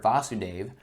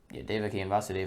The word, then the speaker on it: Vasudeva: In this invocation, the Sanskrit word Vasudeva refers to Krishna. Vasudeva with a short a is Krishna's father. Vasudeva with a long a, also Vasudeva with, or Vasudeva with a long a is Krishna himself.